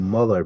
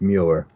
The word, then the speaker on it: Mueller: See, I want to keep saying Muller because that's how Bob Mueller spells his name or pronounces his name. But yeah, it's Mueller.